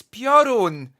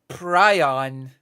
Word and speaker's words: Piorun: It's Piorun. Piorun, not I better come down, or else I'm not gonna build a good relation with the prison. How do you mispronounce that word so badly? How? How do you mispronounce Piorun into Prion?